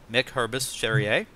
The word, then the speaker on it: Hurbis-Cherrier: You can find Directing, Film Techniques and Aesthetics, written by Michael Rabiger and my guest, Mick Hurbis-Cherrier. In great stores everywhere. He's smiling because I think I got his name right, pronounced right.